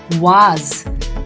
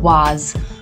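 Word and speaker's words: vase: is usually called a was the s here gives a z sound a was but in the american english it is pronounced as a waste a ways so both the pronunciations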